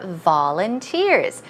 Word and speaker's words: volunteers: They are volunteers. Stress goes right here. Volunteers.